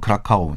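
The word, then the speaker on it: Kraków: 영어로는 크라카오. 이제 네. 폴란드 발음은 크라코프인데.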